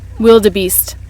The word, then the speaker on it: wildebeest: तो मैं आपको सुनाती हूँ कि इसको कैसे प्रोनाउंस किया जाता है. Wildebeest. Wildebeest. जब हम अपने कैंप पहुँचे